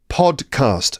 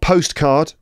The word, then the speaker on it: podcast: of people don't know podcast all right got it podcast podcast not postcard or podcat I've said all these